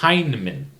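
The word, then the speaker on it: Hineman: chief anderton um also I'm saying her name wrong uh it's Hinman Iris hman Hindman played by Lois Smith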